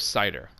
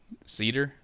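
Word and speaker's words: Seiðr: floor added beware of cider cider I don't think it's pronounced that way I think it's like an F for a th cedar but where the cedar and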